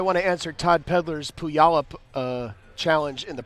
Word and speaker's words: Puyallup: pronunciation chat right there that could pull y'all up PLU football plays in Puyallup so we had to know those things back in 1999 who yollop playoff Washington who yollop I think it's I